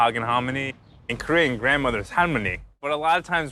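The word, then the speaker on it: 할머니: In Korean "grandmother" is halmoni, but a lot of times when you're a little kid when you say it you can't pronounce the L.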